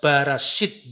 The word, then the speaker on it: Barashit: Misalnya Bereshit itu dibaca Barashit, Bara, Aluwim.